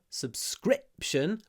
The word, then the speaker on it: subscription: subscri click subscribe um so in subscribe we've got the I vow subscribe but in the noun subscription we've got a CLI I would like to